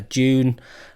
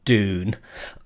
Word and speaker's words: Dune: of films at the weekend I saw uh June last week and June not Dune I'm not on you know the Americans a